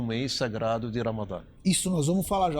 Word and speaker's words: Ramadã: Ramadã, em árabe, Hamadan, ou Ramadão, às vezes tem algumas... em português é Ramadã, com o tio no último A. Eles pronunciam desse jeito.